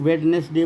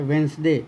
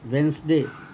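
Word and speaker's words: Wednesday: जो इसको सब लोग वेडनेसडे बोलते नहीं यह कहलाता है वेनसडे वेनसडे द का उच्चारण नहीं होता है और इसको बोलते हैं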